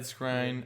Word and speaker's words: Skrein: Skrein? Yeah, Skrein.